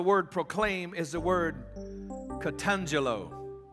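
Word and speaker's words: katangello: word for the word proclaim is the word catangelo catangelo now you spell that k-a-t a-n-g-e-l-l-o catangelo well let me break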